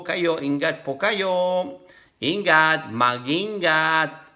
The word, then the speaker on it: mag-ingat: Mag-ingat. MG. Without pronouncing G. Mag-ingat.